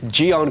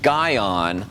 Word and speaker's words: GYEON: I've heard people see gy on okay and they're pronouncing the Y but the Y is actually silent so it's gon just like it says without the Y that's it we're going